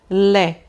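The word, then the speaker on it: lait: Então aqui, gente, eu vou dizer lé, lé, tá bom? Não vou pronunciar o T.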